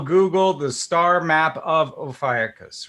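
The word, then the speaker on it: Ophiuchus: how do you now there's two ways to pronounce it yeah both of those two i've heard those two and i prefer ophiacus because it's correct okay so i have a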